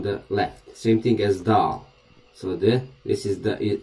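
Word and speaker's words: دال: of the letter is dal like a duck the d like duck dog okay so dal is pronounced as the so this letter we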